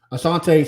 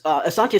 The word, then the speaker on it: Asante: Asante Samuel.